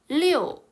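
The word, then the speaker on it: 六: 6은요. 리오 라고 읽는데 리오라는 글자랑 비슷하죠. 자, 리오는 좋은 의미를 가진 말일까요?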